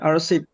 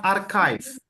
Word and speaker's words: archive: Eh, the second one arsip. Iya, arsip. Arsip. Arsip. Iya, jawabannya bukan arsip. Bacanya archive. Itu artinya memang arsif ya, tapi bacanya archive ya.